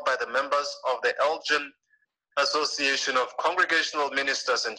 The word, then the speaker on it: Elgin: challenging for me to pronounce how do you pronounce that alton illinois if somebody can unmute and americans and tell us elgin what is it Joe Elgin I think Elgin